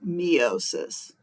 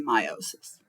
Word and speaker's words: meiosis: reproduction is a type of cell division called meiosis you can also pronounce it meosis um but I say meiosis so I put on this slide I added